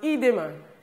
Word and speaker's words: edema: This is pronounced edema.